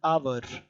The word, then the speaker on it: hour: They are silent. They are not pronounced, and they gave the sound of an hour, an honest, an air.